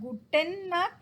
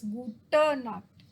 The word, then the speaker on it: gute Nacht: It is not guten Nacht, it is gute Nacht.